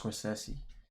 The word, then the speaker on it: Scorsese: It's pronounced Scorsese.